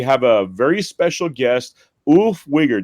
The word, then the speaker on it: Ulf Wiger: Today we have a very special guest, Ulf Wigger. Did I say that right? Pretty close, yeah. How do you say it? Ulf Wieger.